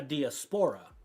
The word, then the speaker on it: diaspora: go ahead and ask Chat GPT what that means, because I use a 3-syllable. Diaspora? How you Yeah, say that? diaspora. That's 4 syllables.